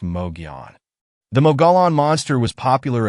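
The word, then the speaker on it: Mogollon: same story to tell the molan monster pronounced Mogan the molan monster was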